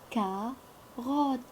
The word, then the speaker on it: carotte: la carotte là là car rod double t de la carotte on ne prononce pas la lettre e et matt d'agostini a